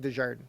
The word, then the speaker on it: Desjardins: So, uh, you say my last name, DeJardan. That's how you say it.